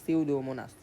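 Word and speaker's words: Pseudomonas: পি দ্বারা মনে রাখবা সিওডোমোনাস হ্যাঁ পি এর উচ্চারণ তো হবে না এটার উচ্চারণ হচ্ছে সিউডোমোনাস সো এগুলাতে এসিকিউতে আসলে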